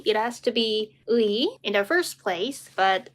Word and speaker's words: 의: 의, it has to be 의 in the first place, but when it has the meaning of possession, like for example, 민지의 옷, Minji's clothes, then we pronounce it as 에.